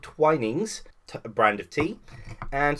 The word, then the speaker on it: Twinings: I keep always pronouncing it as Twinnings instead, but it's actually called Twinings.